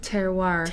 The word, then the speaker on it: terroir: much more about it what's that word again terroir it rhymes with armoire armoire alright that's my